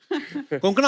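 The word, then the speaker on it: Konkona: से प्रोनाउंस करते हैं आई एम श्यर अगर आपको कोई पंजाबी मिले वो हमेशा कंकना बोलेगा कंकना कोंकना क्यों साउथ में तो कण कणा भी बोले ओ आई यूज टू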